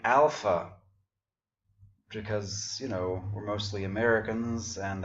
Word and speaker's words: alpha: But actually we would say alpha in Greece because, at least in ancient Greece, because the first letter of the alphabet is a long A, or darker A as in father.